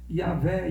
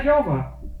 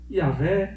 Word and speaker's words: Yahweh: tem um nome que eu sei que não é Jeová. Por quê? Porque em hebraico não tem J. Então começa por aí, né? A primeira letra do nome de Deus lá é um I. Pronuncia um I. É I alguma coisa.